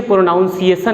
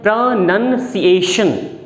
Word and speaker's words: pronunciation: कहते हैं कि मुझे प्रोनाउंसिएशन नहीं आता है। तो सबसे पहले तो गलती वहीं पे हो जाती है। प्रोनाउंसिएशन कोई वर्ड नहीं होता, ऐसा कोई साउंड नहीं होता, इसकी एक्चुअल साउंड होती है प्रोनंसिएशन।